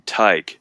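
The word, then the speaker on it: Tadhg: And if you if you saw the name, it's spelled uh T A D G H. I think that's how it was spelled off top my head. I know what the name is, but if you see that name, you think that's not a name. That's just a bunch of random letters. No, no, that's actually the name Ty.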